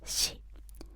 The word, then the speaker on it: し: So, she, you pronounce it as she loves something. She, as in she goes shopping.